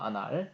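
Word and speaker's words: Annales: 아날. 이 ES는 불어에서 발음이 안 되는데요.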